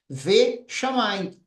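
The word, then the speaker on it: וְשָׁמַיִם: Esse vav conjuntivo, ele será pronunciado como ve, ve. Então, ele está grudado na palavra chamaim. Ve chamaim.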